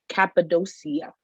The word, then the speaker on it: Cappadocia: It's in Little Falls and it's called Cappadocia.